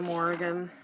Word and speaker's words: Morrigan: it's the replacement by Brenda yovanov it's the Morrigan that's how you pronounce it I absolutely loved her I love